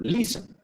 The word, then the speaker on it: listen: Ejemplo, listen. Tiene dos sílabas. Listen, porque no se pronuncia la T. Listen, listen, digamos. Listen. ¿Dónde va el acento? En la primera sílaba.